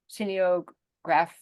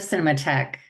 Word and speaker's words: Cinematheque: Arts, University of California, Berkeley, and for SF Cineograph. How do you pronounce that, Tanya? SF Cinematheque.